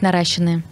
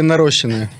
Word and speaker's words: наращенные: Правильно говорить, наращенные. Свои или наращенные? Наращенные или нарощенные?